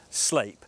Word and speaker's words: Sleap: your pride and joy being parked outside so sleep spelled sleep but I can assure you it's pronounced sleep it's a former RAF base that opened in